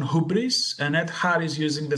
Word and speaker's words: hubris: like e yes i i pronounce it hubris like keeping the hoops alone that we have in greek um instead if you